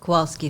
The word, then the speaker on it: Kowalski: So how do you pronounce the last name? Kowalski.